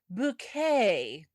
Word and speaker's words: Bucket: Appearances uh as uh I have to say it the way she would like it said playing Hi Hasid Bouquet. Yes, even though it is spelled bucket.